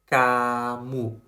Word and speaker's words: kamu: Kamu Good kamu We must remember this rule This rule is very important This rule is that "k" is a soft pronunciation of "g" If you remember this